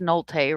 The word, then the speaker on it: Nolte: So and it's pronounced Nolte Road. Apparently I said it wrong, but I'm from Kentucky, so I'll say it the way it reads on the sign.